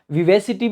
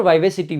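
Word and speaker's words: vivacity: तो जिस दिन वाइवा होता था तो वहीं से आपको, इसको वाइवेसिटी भी पढ़ते हैं, इसके दोनों प्रोनाउंसिएशन सही होते हैं, विवेसिटी भी सही है और वाइवेसिटी भी सही है।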